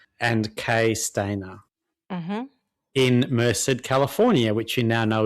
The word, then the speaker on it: Merced: in Merced, California, which you now know is correct pronunciation.